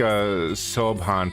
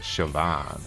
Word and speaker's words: Siobhan: Looks like a subhan pronounced.